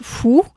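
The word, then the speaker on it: 福: il se prononce fou et euh ce qui se fait très souvent, c'est de le coller sur la porte d'entrée.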